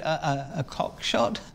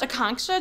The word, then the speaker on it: Akanksha: Is it a cock shot? Oh, it's pronounced Akanksha. Just think of a conch shell.